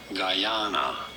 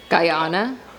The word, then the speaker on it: Guyana: it should be but no it is to be said as guyana guyana guyana okay you heard it